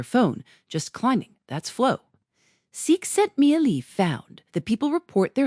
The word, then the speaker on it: Csikszentmihalyi: Mihaly Csikszentmihalyi. Pronounced roughly cheek-sent-me-high.